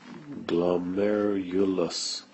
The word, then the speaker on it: glomerulus: better job of that it's the glomus so glomerulus now it's just a network or a bed